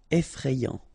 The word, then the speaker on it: effrayant: Effrayant. Final T not pronounced. Effrayant. Amusant.